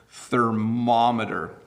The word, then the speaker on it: thermometer: People stress the wrong syllables, so it's thermometer, okay?